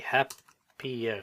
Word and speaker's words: happier: Okay, he'll be happier, similar to easy. Happy. I know it's double syllable, 2 syllables, but the Y becomes an IER. He'll be a lot happier, and your salary will increase.